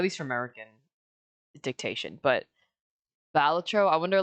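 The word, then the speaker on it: Balatro: That's like most people pronounce it bolatro, but apparently the the the creator has come out and said it is technically batro, but you can say whatever you want.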